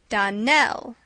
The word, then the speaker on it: Donnell: would set it right Donell Accent on the last syllable and Saint Clare on